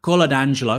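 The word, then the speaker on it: Coladangelo: it's a good hypothesis isn't it uh gina carla d'angelo that's how you say it is leaving her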